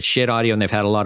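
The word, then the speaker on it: Schiit Audio: And that is how they pronounce it, Shit Audio.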